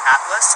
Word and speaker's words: Atlas: My first name's Atlas, like a book of maps, and my last name's, like Oprah.